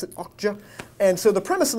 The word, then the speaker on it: Okja: I believe that's how you pronounce it, Okja.